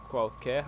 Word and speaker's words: qualquer: Because this letter L in Portuguese has U sound. So, imagine there is another U there.